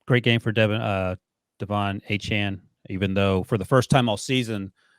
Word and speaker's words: Achane: Sorry, that's how he was pronounced. Yep. Achane.